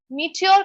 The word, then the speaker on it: meteor: Meteor, meteor का मतलब meteor, meteor, ये हमारा pronunciation है. जैसे meaty, meteor. Okay, simple pronunciation है.